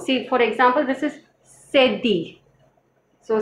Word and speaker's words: cédille: The pronunciation is sedi, la sedi.